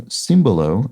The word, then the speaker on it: simbolo: Conveniently, simbolo with an accent on the I is a perfect example of the aforementioned override. So simbolo.